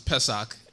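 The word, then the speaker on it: Pesach: which is known as Passover or said pronounced as pesak in the Hebrew language where we acknowledge the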